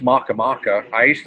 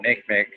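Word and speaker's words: Makemake: My favorite one is Maka Maka. I like to call it Planet Make Make because it's spelt like Make Make, but it's right. Hawaiian god Maka Maka.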